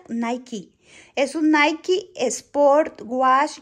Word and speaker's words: Nike: Es un Nike, no, ¿cómo se pronuncia? Nike.